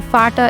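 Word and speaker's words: Vater: uh F then the fata is spelled like v a t e r I say it like f but on the other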